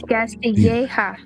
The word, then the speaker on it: Castilleja: No, it's Castilleja. Well, it's E-G-A, which is Castilleja.